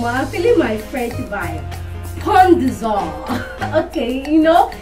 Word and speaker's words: Pont des Arts: Pont des Arts. Okay, in French you don't pronounce the S and the T and the S, so you say Pont des Arts.